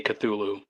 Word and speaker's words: Cthulhu: it's uh both ways normally i' I'd say cthulu cthulu I like the hard T culu like Tuli Kulu Kulu you know the first